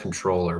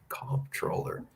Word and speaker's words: comptroller: don't like that word or it's technically pronounced controller but every time it's late at night and I read it I'll say call troller but as Bob Bullock